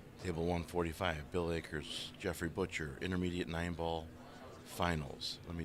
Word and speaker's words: Butcher: Yeah, so I just met Jeffrey Butcher. He verified that that's the correct spelling of his name, and that's how you pronounce it, just like Meat Butcher.